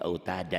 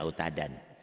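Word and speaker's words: أوتادا: Mad'i wad, dua fathah dibaca satu jika berhenti, jika dihentikan. Jadi autada, jangan autadan.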